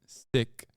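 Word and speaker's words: Sikh: really care okay but that is how you're supposed to say it in the language that's how you say it sick the case of one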